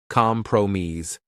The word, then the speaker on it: compromise: Stress the second syllable negotiate cooperation stress the third syllable co rashin compromise stress the first syllable compromise.